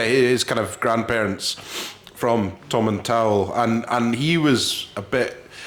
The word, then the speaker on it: Tomintoul: I always say, picture Tom Jones coming out the shower. Tomintoul. That's the way to remember it.